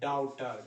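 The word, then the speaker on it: daughter: ए के बाद अगर यू आए इसका तो सीधे आ होता है। जैसे एग्जांपल लीजिए, ऑथर, AUTHOR, ऑथर। एग्जांपल लीजिए, डाउटर, DAUGHTR, क्या लिखते हैं? डाउटर, AU आया ना, तो दोनों मिलके ये वाला उच्चारण हो गया।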